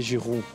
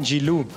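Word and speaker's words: Giroud: fil does it annoy you how Jamie carer pronounces your name Olivia Jud French is Olivia jiru olivu no no not not with the L not jilu oh Olivia jiru no no no W no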